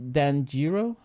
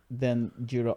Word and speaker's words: Danjiro: By the way, as a pronunciation key, it's pronounced Danjiro. Danjiro. Danjiro. His name. So, pronounced Dan the way you'd normally say it. Dan Jurro.